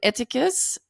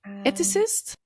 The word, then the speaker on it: ethicist: Because he's a philosophist, an eticus. Eticus is how that is that how you say it in in English? Ethicist. Yes, ethicist. I see.